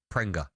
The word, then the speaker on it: Pringa: Pringa is how you pronounce his name.